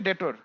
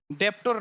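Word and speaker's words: debtor: মানে ডেবিট বলতে এটা আসলে হচ্ছে ডেবিট থেকে ডেটর। খেয়াল করেন টার্মগুলো হচ্ছে এরকম, ডেবিট, তারপর এখানে আসছে ডিইবি টিউআর, ডেপ্টর না, উচ্চারণ হচ্ছে ডেটর।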